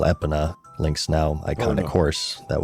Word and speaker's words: Epona: You know, I don't know, because I was only a kid, but me and my sister called it Epona. Like pony, Epona. Not Epona.